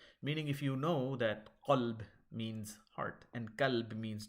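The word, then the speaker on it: قلب: They can't pronounce the qaf and the kaf correctly. And what ends up happening, if you call qalb with a qaf, a kalb with a kaf, kalb means dog, whereas qalb with a qaf means heart.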